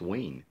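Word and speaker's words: Wein: Wonder Woman by Lynne Wayne and that is how you say his name it's Wayne yeah my curia who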